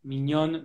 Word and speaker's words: mignonne: Now it's an open syllable, so it's easy.